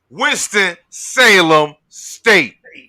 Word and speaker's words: Winston-Salem State: The Chris Paul HBCU tip-off will feature Morehouse College, Virginia Union, West Virginia State, and no, say it like this: Winston-Salem State.